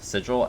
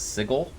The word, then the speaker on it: sigil: intelligent um articulate person, would pronounce this word sigil as sigle. And it took a very long time for him to be corrected and for him to believe the corrections.